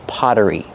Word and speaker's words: pottery: two potteries it's just Pottery pronunciation the Double T makes a fast D sound because it's between vowels Potter Potter Pottery then use the r sound like in burger with that voiced R together Potter Pottery this is